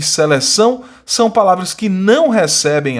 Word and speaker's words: seleção: A está sendo nasalizada, em vez de você pronunciar A, você pronuncia AN, seleção, dedicação, né? E são duas palavras oxítonas, porque a sílaba tônica é a última, né?